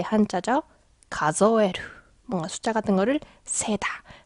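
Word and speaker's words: 数える: 가조에루. 뭔가 숫자 같은 거를 세다, 셈하다. 이런 표현. 자, 예를 들면 유비대 가즈오 가조에루. 자, 이 한자는 혼자 있으면 숫자, 카즈라고 발음하지만 동사가 되면 가조에루가 돼요.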